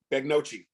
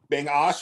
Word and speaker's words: Begnoche: the Cherry then Ash so the n and G are backwards it's like Brett Favre